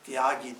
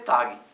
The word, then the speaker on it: Tyagi: In Bengali, it is not exactly pronounced as Tyagi. Though you write ta half and jokar ache, kintu you don't say that. You say Tagi.